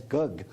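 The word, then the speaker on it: gấc: drink what is it i believe the vietnamese pronounced it as gug fruit that's right yep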